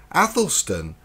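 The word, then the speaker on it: Æthelstan: in the role of Athelstan pronounced lysis to square for American listeners addlestone was the great anglo-saxon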